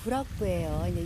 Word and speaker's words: 구락부: 네, 이곳은 구락부예요. 일본식 발음이잖아요. 클럽입니다.